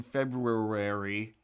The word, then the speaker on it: February: day but that are the er in february doesn't need to be there nobody says it nobody says it i say it all the time just because i know that it's there and if i don't say it it'll make me crazy because i'm like well